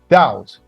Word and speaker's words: doubt: Doubt. B is silent.